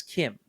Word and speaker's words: Chim: It's spelled Chim but it's Kim and it's basically in Elder Scrolls is kind of a Gnostic belief where the universe is actually isn't real.